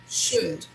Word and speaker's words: should: Observe that in this word, we do not pronounce the letter L. It's silent.